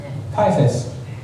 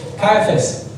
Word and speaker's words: Caiaphas: khai phát Ricky, do you know how to pronounce this? C-A-I-A? Caiaphas. Thanks, Ricky. I have to see it in Greek. Sorry. Thank you. Caiaphas.